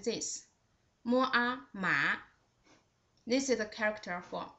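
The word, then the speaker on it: 麻: The second one with the second tone, its pronunciation is just like this. Mua, ma.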